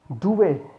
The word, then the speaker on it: duvet: it is handbag, no, it's handbag, handbag, d is silent here। duvet, t is not pronounced here, d is not